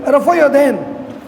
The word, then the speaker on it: رفع یدین: یدین کا نہیں ہے، اصل تلفظ کیا ہے؟ رفع یدین۔ تو امام شافعی کرتے